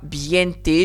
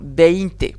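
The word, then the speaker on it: veinte: Je dis pas biente, je dis pas neinte, je ne sais pas quoi. Non, beinte.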